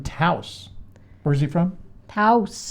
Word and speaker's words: Taos: where is he from house house rhymes with house and mouse spouse hey guys great show